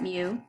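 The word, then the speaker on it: μ: everybody's height nobody's been lucked out and we pronounce it mu now if you're looking at a distribution how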